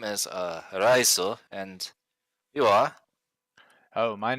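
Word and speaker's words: Raiso: My name is spelled R-A-I-S-O. Raizo.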